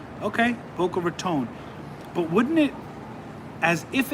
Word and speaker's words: Boca Raton: So it is Boca Raton. Okay, Boca Raton.